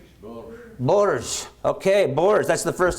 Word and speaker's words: Bourges: How about you give me the pronunciation there, sir? Which one? Borges? Bourges.